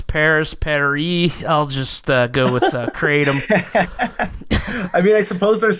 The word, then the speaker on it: Kratom: There was certainly plenty available in the pharmacology literature for animal studies, and quite a bit was known about Kratom. How are we pronouncing it today?